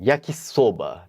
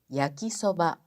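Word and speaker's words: 焼きそば: E yakisoba, Mitsuko Sensei. É yakisoba.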